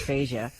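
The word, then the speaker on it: fascia: these and I'm like they kept saying CYO foga cyto fog and I'm thinking huhuh I know it's fasia so I I finally went found like a medical site with pronunciations I'm like okay we were right somebody apparently just had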